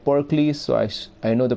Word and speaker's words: Pericles: She said Pericles, so I know the pronunciation now. Otherwise, I was thinking it is Pericles or something like that, but it's Pericles.